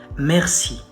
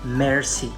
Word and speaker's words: merci: and it's important because a lot of people say mercy or mercy mercy it's a different thing okay like please have mercy that's a different word it's spelled differently so we say merci merci merci the accent is on the first part the other one is